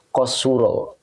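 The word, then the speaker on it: قصر: di kitabnya adalah qasuro nah ini bacanya qasuro jadi ngambil polanya dari faula Ini qosuro oke Ya jadi ini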